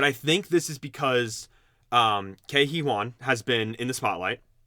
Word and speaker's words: Ke Huy Quan: but I think this is because Ke Huy Quan has been in the spotlight. Yep. I always say his name wrong.